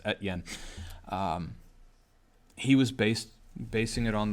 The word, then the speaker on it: Estienne: That last name is Estienne. It looks like SDN, but S is silent, I guess. Etienne.